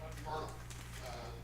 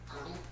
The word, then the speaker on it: Myrtle: Myrtle. It's pronounced like turtle. Girdle. No, Myrtle.